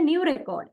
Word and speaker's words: record: syllable uh for example I brought a new record it is it is a noun and second one record it I need to record this song in here stress on second syllable and it become become